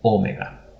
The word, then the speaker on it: omega: we have the letter omega omega which we will render as an o as well but this is a long o we had o migron now we have o mega omegran omega both has